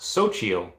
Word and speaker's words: Xochitl: Sleeping Comics says, pronounced Xochitl. Xochitl?